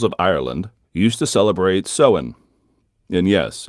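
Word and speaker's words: Samhain: ancient Celtic peoples of Ireland used to celebrate seen and yes it's spelled samhan or saman but it's pronounced soen and seen was the night when the door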